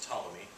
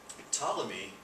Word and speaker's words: Ptolemy: This is Ptolemy, the P is silent, Ptolemy. And Ptolemy also proposed a geocentric model of the universe, which again, geocentric, Earth-centered.